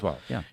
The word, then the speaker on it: Kurzweil: futurist Ray Kurzweil, I think is how you pronounce it. Yeah, Ray Kurzweil.